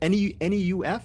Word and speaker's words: Neuf: N-E-U-F? Is that how you say it? Neuf? I'm hoping. Yes, it's my name, so I can say it however I like, but yes, I'll be Neuf.